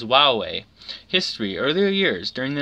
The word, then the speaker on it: Huawei: recognition campaign instead to encourage a pronunciation closer to hawk way using the words Wow way history earlier years during